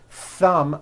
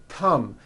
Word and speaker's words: thumb: So instead of saying a word like thumb, my thumb, which this is, and notice how my tongue is coming out, my thumb, you've been saying tum, my tum, or my thumb, and your tongue is not coming out. That is not correct.